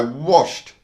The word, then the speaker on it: washed: Alright, for example, when I washed my dog, I washed, washed. The last sound before the ed is a sh sound, sh, which is voiceless. So we pronounce the ed as a soft t, washed, washed.